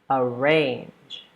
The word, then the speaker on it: arrange: Obey, with that emphasis on the second syllable. Arrange.